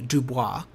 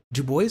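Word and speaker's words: Du Bois: uh w e b Dubois Dubois sorry Dubois um it's it's not pronounced like it should be um but um and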